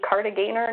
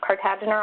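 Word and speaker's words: Kartagener: It's actually Cartagena, not Cartagena, although I never met the man. I hear that that's how he wanted his name pronounced.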